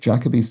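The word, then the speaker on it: Jacobi's: a small pronunciation check Derek Jacoby's surname has the emphasis on Jack making Jacoby's a rhythm for Maccabees and there we go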